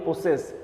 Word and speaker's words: possess: প্রসেস জ, উত্তরটা কিন্তু জ, আর আমরা সাধারণত বলি প্রসেস এস বলি, এখানে জ, POSSESS প্রসেস। প্রসেস মানে হচ্ছে অধিকারী বা মালিক হওয়া।